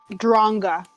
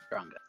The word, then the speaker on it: Dronga: Is that Dronga? Is that how you were pronouncing it? Dronga. Alright, Dronga.